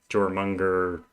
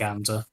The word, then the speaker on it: Jormungandr: When you start setting something like Jormunger, is that the correct? Jormungandr. Jormungandr, okay. I was pronouncing it wrong in my head for a long time.